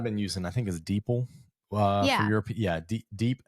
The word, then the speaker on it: DeepL: But the other one that I've been using, I think, is Deeple. For Yeah. Europe, yeah, deep L. I think it's pronounced Deepl, but it's deep DEPL.